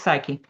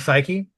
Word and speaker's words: Psyche: Project Psyche because I was say I always want to drop the E. So, Project Psyche and we will be led in our journey today by D.